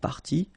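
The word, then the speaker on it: parties: what you will pronounce, the good news is that you won't pronounce these s or s. Okay? So it will go like party party and then here same thing party party and party.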